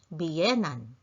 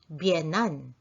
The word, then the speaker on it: biyenan: Now, the word biyenan may also be pronounced as bienan. You can omit the letter I and simply say bienan.